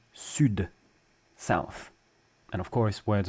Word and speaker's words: sud: strike show the D the D is silent when it's the very last letter of a French word with only one exception sud South and of course